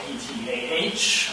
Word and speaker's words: Ptah: a god named Ptah, spelled P-T-A-H. The P is a silent one, just like in pterodactyl. So we call him Ptah, but it's spelled Ptah.